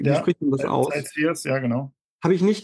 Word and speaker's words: Sightseers: Wie Ja, spricht man das aus? Sightseers, ja genau.